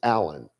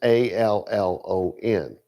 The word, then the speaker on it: Alon: So the same word, like my last name, Alon, which in Texas everybody calls us Allen. But my last name is Allon because it's Aleph, Lamed, Vav, Nun, Sofit, right?